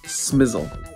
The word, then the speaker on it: SMSL: SMSL? No, no, no. It's pronounced smizzle.